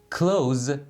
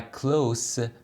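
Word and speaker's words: close: خوشحالی نزدیک‌تر یا شبیه‌تر کلوز و کلوس مثل هم نوشته میشن ولی خب تلفظش فرق داره و یکیشون فعله و اون یکی صفت یا قیده این یکی از اون دلایلی هست که من همیشه میگم به تلفظ ها و فونتیک ها خیلی باید دقت بکنید اونی که فعل هست تلفظ میشه کلوز یعنی بستن و اونی که صفت یا قید می‌تونه باشه تلفظ میشه کلوس یعنی نزدیک معنیی دیگه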